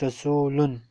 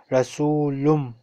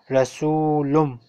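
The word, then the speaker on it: رسولٌ: For example, the word rasulun, on normal occasion it is pronounced rasulun, but here we have after tanween we have ba, so it will not be pronounced like rasulun, it will be pronounced like rasulum.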